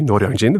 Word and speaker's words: Noryangjin: First learn how to pronounce properly, Noryangjin.